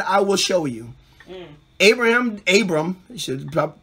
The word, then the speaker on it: Abram: Abram, you should say it properly.